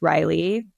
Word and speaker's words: Reilly: Um, but I am on Instagram, Riley. My last name is R E I L L Y. I know it's spelled a little different.